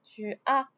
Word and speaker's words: as: It gives me tu as. I don't pronounce the S.